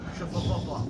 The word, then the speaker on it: Schauffele: How'd you pronounce it? Schauffele.